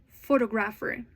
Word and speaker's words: photograph: Photographer. Photographic. Can you hear the difference? Each word changes the stress depending on its form. In photograph, the first syllable is stressed.